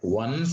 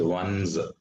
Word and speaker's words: one's: So this is what is called get one's own way. Not once, it is one's. ONCE is pronounced as one's, but ONE apostrophe S is called, it is pronounced as one's, right?